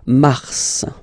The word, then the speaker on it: mars: Okay, so in a way it's an exception because normally final S is not pronounced in French. Okay, we've got some exceptions and this one is one of them. So mars, pronounce the final S, mars, mars.